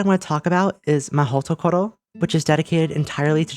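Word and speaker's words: Mahoutokoro: Unfortunately, Japanese doesn't really work like this, and it wouldn't be Mahhootokohro. Here's what it would look like. In case you don't get it and you're an English speaker, to roughly compare it, most syllables in Japanese will be read with 2 letters, a consonant and then a vowel. So it would be Mahhootokohro, not Mahhootokohro.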